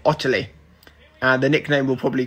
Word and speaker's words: Ottilie: name is incredibly simple you pronounce it otterly and the nickname we'll